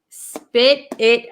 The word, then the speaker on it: spit it: it out out um for pronunciation uh we have this T here and it's um sandwiched between these two eyes so this T is going to turn into like a D sound spit it and then this T is